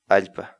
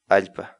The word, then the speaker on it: allpa: de vídeos en la que te enseñamos a pronunciar algunas palabras en quechua así que nuestra palabra del día por hoy es ipad ipad la palabra quechua alta en español significa tierra